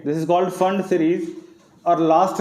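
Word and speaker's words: Pfund: Number 5 है पी फंड, जिसको आप बोलते हो, इसको फंड बोलते हैं बेसिकली, फंड सीरीज, ठीक है, this is called फंड series.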